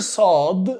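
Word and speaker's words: صاد: the letter sword sword the letter sword doesn't exist in english so it is very close to the letter s but it's like as strong as like sword sword sword okay sword make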